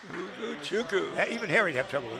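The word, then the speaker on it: Ugochukwu: So it's spelled U-G-O-C-H-U-K-W-U. It's Ugu Chuku. Ugu Chuku.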